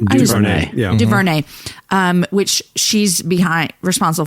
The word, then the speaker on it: DuVernay: DuVernay, yeah.